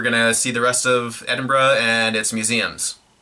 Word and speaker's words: Edinburgh: so that was central Edinburgh pronounced Edinburgh not Edinburgh as I've been wrongfully saying for years on